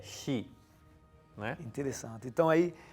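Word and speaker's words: 四: Tanto que eles trocam a pronúncia para ion, né? Usam uma outra pronúncia quando necessário usar realmente o número 4, né? O simbolismo é o mesmo, né? A pronúncia... Exato. Eles mudam a pronúncia para não pronunciar, porque a questão não é o número 4, é a pronúncia que se usa, que é shi, né?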